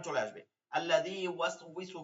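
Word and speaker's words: يُوَسْوِسُ: ইউয়াস, ওয়াও জের উই, একটা সিনের এপাশে ওয়াও ওপাশে ওয়াও হওয়ার কারণে অনেকে এখানে ভুল পড়েন।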